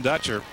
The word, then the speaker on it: Dutcher: 23 passing for Brian Dutcher and I did confirm that it is indeed dutcher we were calling him but I was calling him dutour and Kevin had the right pronunciation we apologized to the